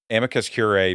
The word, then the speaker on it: amicus curiae: We now have a motion from the ACLU of South Carolina, and they want to file a brief of amicus curiae.